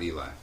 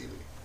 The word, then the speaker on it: Ely: It's not Eli. It's Ely. Like Robert? Yeah. E-L-Y. Pronounced.